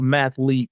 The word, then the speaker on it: mathlete: say, but also a mathlete, just to let you know, it's a mathlete. Oh, excuse me, mathlete. I was pronouncing it wrong.